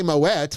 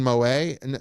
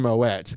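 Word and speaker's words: Moët: And if you say Moette, which is the actually correct pronunciation because it's actually a Dutch name, not a French name.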